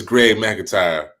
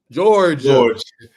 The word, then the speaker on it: George McIntyre: I say this brother name wrong. We were at the camp. I believe it's Greg McIntyre. George McIntyre. George McIntyre. I was saying George, Greg.